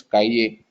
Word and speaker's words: cahier: The pronunciation is cahier. C-A-H.